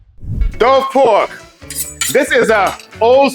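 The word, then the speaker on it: daube: welcome to fiban Cuisine let's get cooking Dove pork this is a old school Caribbean favorite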